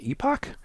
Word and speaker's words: epoch: network is called an Epoch and what you'll do or in Epic depending on where you are um I think Epoch is the uh queen's English pronunciation but it's the one